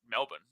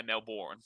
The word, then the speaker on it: Melbourne: but um it's yeah a lot of Americans will say Melbourne which is hilarious I